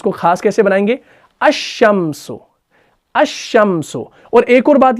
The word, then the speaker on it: الشمس: ہے، ٹھیک ہے نا۔ جب بھی کوئی اسم حروف شمسی سے شروع ہو رہا ہو، اگر اس پر الف لام داخل ہوگی تو لام کا تلفظ نہیں ہوتا، ٹھیک ہے نا، تبھی ہم پڑھتے ہیں الشمس، ٹھیک ہے جی۔ تو اب کیا آئے گا؟